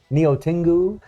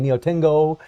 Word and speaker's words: Neo Tengu: are on xero and neo tengu and yes i know i was mispronouncing her name too i was saying neo tengo in the last video so a lot of